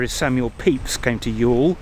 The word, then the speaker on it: Ewell: samuel peeps came to Yule he pronounced it actually in back then y'all why OWA double-l and it's in his diaries I think between 16